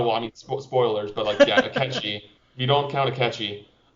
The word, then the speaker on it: Akechi: Oh, well, I mean, spoilers, but Akechi. If you don't count Akechi. I'm saying his name right? It is Akechi.